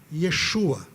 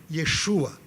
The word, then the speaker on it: Yeshua: lá e isso sou Jesus é Yeshua Esse é o nome original como se pronunciavam o nome de Jesus à época a transliteração para o